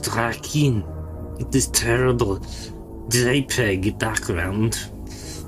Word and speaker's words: Drakkhen: As it is pronounced Drakkhen.